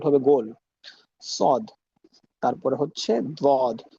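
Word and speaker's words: ضاد: তারপরে হচ্ছে দ্বদ। দ্বদের উচ্চারণটা সদের মতোই কিন্তু দ, দ, দ। দেখেন ডালের দ, আর এখানে হচ্ছে দ।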